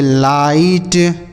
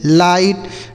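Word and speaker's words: light: एल आई जी एस टी इसे पढ़ेंगे लाइट। एल आई जी एस टी लाइट।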